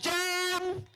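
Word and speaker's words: Jon: His name is pronounced John.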